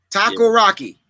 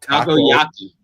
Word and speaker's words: takoyaki: Taco Rocky. No, takoyaki. Like Taco Tuesday. Taco. Yaki. Taco. Like it doesn't taste very good. It's yucky. Like the drink. Spelled with a K instead.